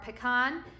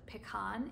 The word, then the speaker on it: pecan: the West Coast because I pronounce it pecan instead of pecan. I don't know. I know that there's two schools of thoughts about how to pronounce that. I've always pronounced it pecan.